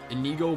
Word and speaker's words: Inigo: Inigo Montoya, Zim, Pac-Man, Mark Zuckerberg, Mind Turtle, Yugi, Pablo, and Mama Coco.